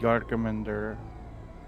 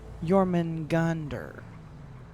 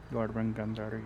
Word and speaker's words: Jormungandr: I think that is related to who I think Jorgamander is actually... Jorgamander? That's not how it's pronounced, but yes. Jorgamander? How do you pronounce it? Sorry. You're close, but it's fine. Jormungandr. Jormungandr, yes.